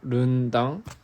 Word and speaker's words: Rendang: Rendang is pronounced Rundang.